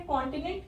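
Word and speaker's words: continent: तो कॉन्टिनेंट, हमारे पास ये वर्ड है कॉन्टिनेंट, यहाँ पे CONT। तो CON हमें बोलना है कॉन, यहाँ पे O की जो साउंड है वो है ओ, कॉन।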